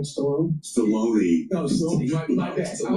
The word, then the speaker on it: Stallone: Guys, Jay Will, Sylvester Stallone, that's how you say it, right? Stallone?